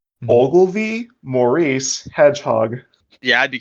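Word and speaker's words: Ogilvie: Yeah, it is spelled OLGILVIE. Ogilvy. I'm thinking like Ovaltine, like Christmas Story, Ovaltine. I'm like, Ovaltine? The drink? No, Ogilvy, Maurice, Hedgehog.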